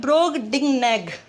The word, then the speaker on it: Brobdingnag: ठीक है, इसकी जो प्रोनाउंसिएशन है वो क्या है? ब्रोगडिंगनेग, ये इसकी प्रोनाउंसिएशन है।